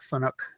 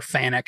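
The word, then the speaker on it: Fanuc: let's call Dannemora that runs a phone ik controller or fanic however you want to pronounce it I've heard it Browns both ways well CNC question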